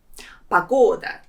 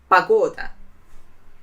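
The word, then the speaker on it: погода: weather pas go da there are three syllables in this word and the second one is stressed Pagoda and the important note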